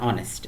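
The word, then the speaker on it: honest: এন বসে যেমন অ্যান অনেস্ট এখানে আমরা দেখতে পাচ্ছি যে এইচ থাকলেও উচ্চারণটা এইচ হয়নি অনেস্ট আওয়ার এটসেট্রা নাম্বার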